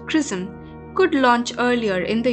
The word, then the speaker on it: XRISM: station a japanese-led mission xrism pronounced prison could launch earlier in